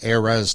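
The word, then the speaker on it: Eras: as she's doing her heiress tour air res tour depending on how you pronounce it and the first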